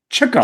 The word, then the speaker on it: Chico: It was Chico. Chico. Chico. He was the one chasing the chicks.